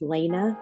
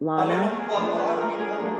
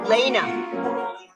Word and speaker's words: Lena: could just say that my name is pronounced Lena not Lana Lena standby welcome back it's